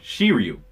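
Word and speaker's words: Shiryu: at uh goddamn oh yeah she Ryu I said it right she were you and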